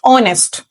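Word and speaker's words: honest: द नेक्स्ट वन इज ऑनेस्ट what is इट ऑनेस्ट we will not pronounce H okay H is silent लोग some times इसको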